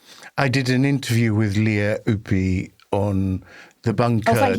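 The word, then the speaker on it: Lea Ypi: I did an interview with Leah Upi on The Bunker. Oh, thank you for pronouncing that correctly.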